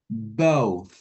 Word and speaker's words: both: Jadi pelafalannya itu oh, both, gitu ya.